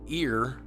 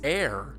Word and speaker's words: ere: If the word E-R-E, it's not ear, it's air. So write out the word air.